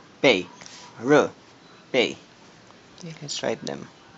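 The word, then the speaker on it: 日: R, bei, r, bei. Okay, let's write them. This is, if you're familiar with this, it's the Chinese character for first kanji for Japan. In Mandarin, it's pronounced r.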